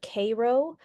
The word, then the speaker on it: Cairo: Cairo which apparently in the locals call it Cairo but it's spelled c a i r o just like you know Cairo in Egypt and they would go